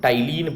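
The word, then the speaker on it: ptyalin: Salivary amylase, या इसका एक और नाम है जिसको हम लोग टाइलिन पढ़ेंगे। देखिए यहाँ पी साइलेंट है, इसको हम टाइलिन पढ़ेंगे।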